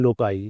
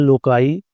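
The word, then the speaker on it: loci: यहाँ पे plural लोकाई, बाद इसे लोसी भी पढ़ते हैं लोकी भी पढ़ते हैं, तीनों हर तरह की प्रोनाउंसिएशन ठीक है, लेकिन चूंकि लोकस है तो वहाँ पे उस लिहाज से लोकाई मुझे ज़रा बेहतर लगता है।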